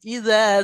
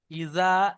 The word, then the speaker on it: إذا: জালের উচ্চারণ আলাদা আর জিমের উচ্চারণ আলাদা। জিমটা একটু চেপে পড়বেন, জালটা হালকা করে। ওয়াল্লাইলি ইযা সাজা। الليل إذا سجى ইজা, এটা জিমের মতো হয়ে যাচ্ছে, এটা হালকা করে পড়েন।